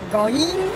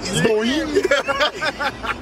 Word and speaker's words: groin: Cause you kept saying groin, groin. Groin. It's like saying boing and then boing. It's like one syllable, my guy.